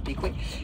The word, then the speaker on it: Bequia: Et grande première cette semaine en fait en arrivant à en fait ça s'écrit Bequa mais ça se prononce Bqué.